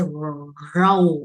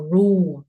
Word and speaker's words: rule: We don't say row or rule. Rule là gì? Rule or rule. No, this is U and L. Rule. Rule. This is U. You say U, and then you are gonna curve your tongue like this. The L letter.